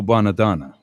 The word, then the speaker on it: Bonadonna: Sent a tape to a guy named Joe Bonadonna. Say that real fast, then you'll pronounce it right.